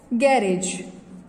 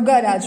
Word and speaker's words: garage: He drop the car into the garage or garage, both the pronunciation are correct.